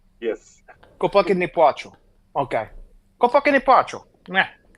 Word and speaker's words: Chłopaki nie płaczą: Chłopaki nie płaczą. Chłopaki nie płaczą. Yes. Chłopaki nie płaczą.